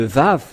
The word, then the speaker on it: Vav: Et ce que je veux en venir, c'est que vous voyez ici le terme Vav qui se prononce V.